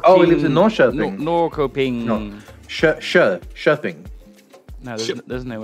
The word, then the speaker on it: Norrköping: The K, when followed by a soft vowel, is pronounced. Why is the N and S then? He cut off when he said Shöping. How it was pronounced. What do you mean N and S? Pronounced... Oh, it's a sh. Like a sh sound.